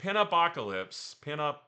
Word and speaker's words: Pinupocalypse: I completely screwed up. Pinupocalypse. Pinupocalypse. That's how you say it.